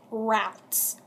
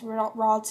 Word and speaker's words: Ralts: Next is, fool, it rhymes with waltz. This is while I was watching a pack opening video by Skullshirtigal TCG. It was Saturday doing the opening, and she pronounced it routes. It's Ralts, and she pronounced it